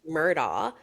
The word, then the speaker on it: Murdaugh: pronounced Murdaugh.